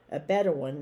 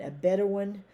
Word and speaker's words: Bedouin: of necessity during your lives as a bedouin a better one that's how you pronounce it b-e-d-o-u-i-n a better one or other type of nomad okay a bedouin